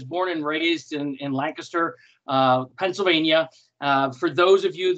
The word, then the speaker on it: Lancaster: and raised in in Lancaster Pennsylvania for those of you that not sure how to pronounce it correctly it's not Lancaster it is like a kisser so no emphasis on the cast emphasis on the one